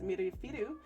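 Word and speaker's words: ミルフィーユ: So in Japan, this one is pronounced mirifiru.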